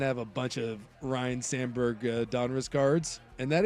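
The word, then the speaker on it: Ryne: Someone's saying I have a bunch of Ryan Samberg Donres cards. And that is true. Oh, and by the way, just note notable notation of note. It's Ryan. Ry, not Ryan.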